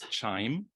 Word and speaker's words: Qiime: And what we'll be using is Qiime, pronounced like wind chime, was created around the